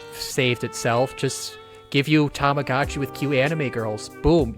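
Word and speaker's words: Tamagotchi: app toachi it is it not pronounced tomagotchi no it's pronounced tamagachi cuz Tama is Japanese for egg or ball and that's what the thing is it's Tama tamagachi Tama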